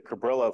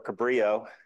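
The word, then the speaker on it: Cabrillo: at the end it writes a cabillo file for you or cabri if it's you want to pronounce it closer to Spanish but it uh it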